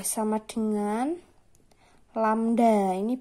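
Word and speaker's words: λ: V sama dengan lambda. Ini bacanya lambda.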